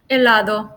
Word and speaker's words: helado: could be confusing but just remember that H is Spanish mute let's go with the